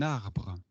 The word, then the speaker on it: arbre: R is a pronunciation which actually comes slightly from here. Okay. So in French, in English, you pronounce it as R, which comes from the mouth.